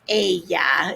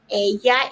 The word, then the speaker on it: ella: Ella is she. Remember, we don't pronounce it ella, it's ella. It's not ella, it's ella.